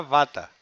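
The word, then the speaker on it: Vater: váter a ver la pronunciación es muy importante se escribe butter no y se dirá bata pues John Lucas le puso este nombre dando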